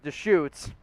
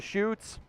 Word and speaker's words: Deschutes: help you with the beer you mentioned it's pronounced deschutes after the deschutes river shoot i got it wrong i appreciate that i didn't know how to pronounce it i said i said a few times the shoots the shuts definitely said a few things on